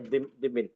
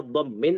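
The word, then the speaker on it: ضمّ: Dhimmin. Dhimmin. Bolehnya dibaca dhammin atau dhummin. Kalau dhimmin enggak ada.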